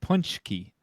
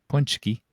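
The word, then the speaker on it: pączki: up because we can CZ is pronounced CH in Polish punchki we're gonna listen to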